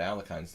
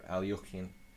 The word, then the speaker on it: Alekhine: You don't have to construct your entire opening repertoire based on your fear of the Alekhine's defense, or Alyokhin, if Nefedov were here, and I had to pronounce it correctly.